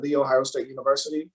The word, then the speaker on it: The Ohio State University: And into college, earned a bachelor's degree, went to graduate school at The Ohio State University. That's the right way to pronounce my alma mater.